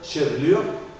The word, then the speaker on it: chevelure: dans le même mot, normalement, c'est la deuxième qu'on n'articule pas. On prononce la première, mais pas la deuxième.